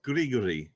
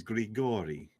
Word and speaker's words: Grigori: It's not Grigory, it's Grigori. Oh, so you're saying I put the wrong emphasis on the wrong syllable?